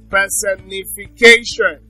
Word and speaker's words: personification: Personification, that's six syllables. So the stress is on K.